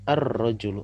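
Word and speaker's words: الرجل: ya ini Al ya Al rojulu diucapkan ar-rajulu artinya laki-laki aldiqu dibaca addiku ya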